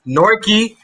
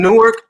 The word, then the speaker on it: Newark: the time you know you are from newark new jersey if you pronounce it as nork yes if you say newark you are not from new jersey but like i said